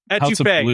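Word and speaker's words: étouffée: Etouffee.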